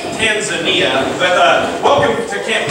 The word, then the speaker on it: Tanzania: happen all right so best tanan it's actually pronounced Tanzania but uh welcome to Camp kjaro thanks and